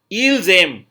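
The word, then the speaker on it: ils aiment: इल्जेम, they like, इल्जेम, AIM, और फिर ENT ऐड करेंगे जो कि साइलेंट रहेगा, राइट।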